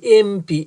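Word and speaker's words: MP: এরপরে mister Ahmed is অ্যান এমপি, এমপি এমপি এম মানে এটার উচ্চারণের প্রথম সাউন্ড হলো এ, যেমন দেখো এম উচ্চারণ করতে প্রথমে ম সাউন্ড আসে না, তার আগে দেখো এ আছে, এমপি এ, তাহলে প্রথমে এ এর মতো উচ্চারণ হওয়ার কারণে এখানে অ্যান হবে।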